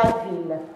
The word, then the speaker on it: ville: Deux L, mais on ne prononce pas « je », on prononce « il », la ville.